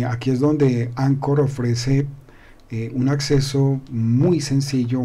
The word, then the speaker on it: Anchor: vamos a ver que anchor ancor se pronuncia ancor protocol nos ofrece el